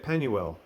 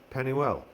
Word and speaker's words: Penuel: click on that and you get penuel or pennywell and by key it has a pronunciation so let's listen to that strong's h6439 penuel penuel gascenius lexicon all right